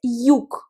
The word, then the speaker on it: юг: Le sud, en russe, c'est юг. Юг. Faites attention, le mot юг se termine par la consonne G, mais la consonne G à la fin des mots se prononce K.